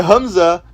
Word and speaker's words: Hamza: But the point is, he got destroyed by Hamza. Yeah, that's how you pronounce it.